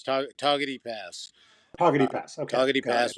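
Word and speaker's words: Togwotee: You don't pronounce the W. It's toty pass.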